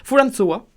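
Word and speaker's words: フランソワ: François Mitterrand qui, du coup, s'écrit Fulan... Fulanso Wa. Oh putain, c'est un Wa ça? Fulanso Wa. Oui, c'est ça. Fulansoa.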